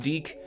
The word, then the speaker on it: DIC: made by DIC entertainment but seriously it's pronounced deke someone got really mad